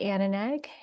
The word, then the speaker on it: Aninag: my name is aneg and my last name is pronounced Anna like a girl's name and nag like somebody's nagging you to do the dishes and this is my